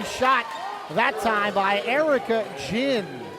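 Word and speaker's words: Ginn: that time by Erica Jinn spelled g i NN pronounced to like the beverage chin antonic that was a a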